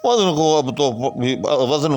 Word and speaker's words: وزن: کرتے ہیں اس کا۔ تو یہ بھی فا یا فعل کے وزن پر ہے، مفع کے وزن پر نہیں ہے، یعنی وزن لفظ ہے،